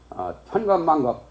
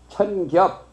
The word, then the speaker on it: 천겹: 겁으로 발음하면 덜려요.